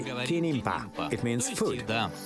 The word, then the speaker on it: kinimpa: We just say kinimpa. It means food. Kinimpa.